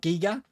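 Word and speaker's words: Giger: wrong I've been calling Geiger's alien diggers for ages not giga and I understand it's Giga now but you know growing up I've always known as guy Gaz alien so uh thank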